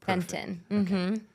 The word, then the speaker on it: Fenton: And today, I'm so honored to have Fenton. Thank you so much for joining us. Thank you. I'm happy to be here. Did I pronounce your last name correct? Yes, you did. Fenton.